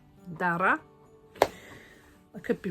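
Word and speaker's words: Darragh: The UK is locking itself down for Storm Dara to come in. That's spelled D-A-R-R-A-G-H. I think it might be an Irish name. Dara.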